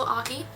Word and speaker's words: Aki: My name is Aki. No one knows how to pronounce my last name, so that's how you pronounce it.